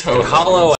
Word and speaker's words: Holo: same way me and i also say babble and i say holo you mean babel and hollow it's hollow i actually do believe